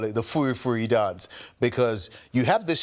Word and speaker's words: Furi Furi: So Furi is actually fully, like full. And then I decided to pronounce it in our own local accent. So I said Furi Furi.